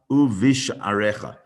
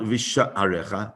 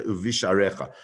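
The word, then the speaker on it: וּבִשְׁעָרֶיךָ: uchtaftam al mezuzot beitecha uvish arecha. It's not visha arecha. It's not. We don't pronounce the shva there in as a letter uvish arecha.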